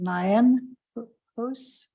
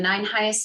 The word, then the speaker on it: Nineheis: 9 Heis rhymes with mice. All right, please proceed. Hi, everyone. My name is Nineheis, and I am the